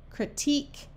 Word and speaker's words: critique: U says like in the word mosque torque critique and technique notice in these words the U and e at the end are all silent mosquito is not French